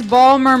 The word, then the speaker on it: Baltimore: that's right that's right we're trying to pronounce Ballmer Merlin for any locals in